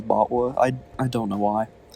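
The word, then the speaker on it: BotW: into the B bwa in my head I always like pronounce the acronym for breath of the wild as bwa I I don't know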